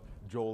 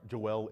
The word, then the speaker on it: Joel: have beat anyways but Joel embiid I'm sorry Joell embiid I keep saying his name wrong cuz I just like the way Joel rolls off the tongue forgive me mr.